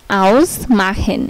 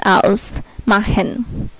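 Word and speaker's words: ausmachen: তারপর হচ্ছে এই ইউ যদি কোনো ওয়ার্ডে একসাথে থাকে তাহলে এটার উচ্চারণ হবে আও, আও এর মতো। যদি কোনো ওয়ার্ডে এ ইউ একসাথে থাকে তাহলে এর উচ্চারণ হবে আও। যেমন আউস মাহেন, এই যে এ ইউ, আও এস, আউস মাহেন।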